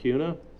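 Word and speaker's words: Acuna: Auna. Uh, yes. Yes, sir. Am I pronouncing your name correctly?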